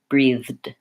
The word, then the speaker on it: breathe: easier way and again in the verb this is the voiced th sound like in that and the and in the noun